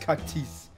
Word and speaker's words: Cac-Tease: It's pronounced Cac-Tease.